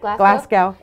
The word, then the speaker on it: Glasgow: Glasgow.